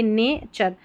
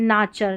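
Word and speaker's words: nature: फिर यहां देखिए ने हो गया एन ए नेचर। अगर अब मैंने तो बोला ने है। आप ना भी बोल सकते हैं। नाचर। नाचर क्या होता है? नेचर सही है ना उच्चारण।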